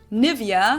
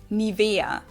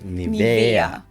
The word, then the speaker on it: Nivea: English native speakers usually say Nivea. Yep. Nivea. In German we Nivea. say Nivea. Nivea. So the emphasis is on the E. Nivea.